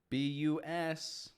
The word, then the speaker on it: business: Business. B-U-S-I-N-E-S-S. Business. I'm here on business.